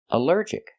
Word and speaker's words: allergic: Allergic is three syllables. Allergic. The stress is on the second syllable. Allergic. Allergic. Here the al is not pronounced all but pronounced uh like in cup and up because it's not stressed.